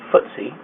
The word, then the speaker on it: FTSE: and six swiss exchange ftse pronounced ftse the index tracks performance